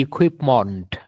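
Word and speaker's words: equipment: এখানে খেয়াল করেন, এই শব্দটার শেষে দেখেন এই যে MENT, এর উচ্চারণ কি হবে? মন্ট। আমরা সাধারণত উচ্চারণ করি মেন্ট। মেন্ট না বলে আমরা বলবো ইকুইপমেন্ট। ঠিক আছে, তারপরে দেখেন এখানে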